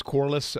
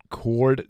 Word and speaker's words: Corless: My last name was Corless. Um, so they don't really they sometimes they pronounce it cord.